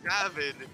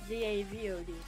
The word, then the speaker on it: Zavod: You said Zavid. You're saying Zavid. No, I'm saying it as Zavod. Zavid. Where'd you get the I? Where's the letter I? There's no I in it. Well, you're pronouncing it with an I.